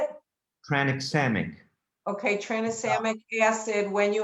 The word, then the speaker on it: tranexamic acid: acid tran okay how do you say it tranexamic okay transcendic acid when you have a vm